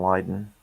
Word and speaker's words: Leiden: And you were correct about the pronunciation, Leiden.